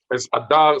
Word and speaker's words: Adar: And Ghil'ad is good as Noam, as Adar.